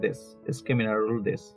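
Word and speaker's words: です: U is not pronounced here. So, this, DESU. So, only this.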